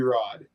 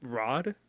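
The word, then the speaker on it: Rhod: Rod. Yeah. R O D. R H O D. Uh, yeah. I'm silent H on that one.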